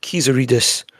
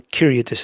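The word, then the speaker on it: Kyriakidis: his Greek friend and it's pronounced Kizaridis rather than Kyriadis. Is that correct, Adam? Yeah, I think so. Yeah, some people are dropping the Z, but apparently the Z definitely gets pronounced.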